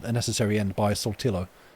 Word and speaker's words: Saltillo: A piece of music called A Necessary End by Saltillo. Or Saltillo, maybe. Probably. Doing the very British guy pronouncing probably a Spanish word. Saltillo. Alright, mate, like a tortilla.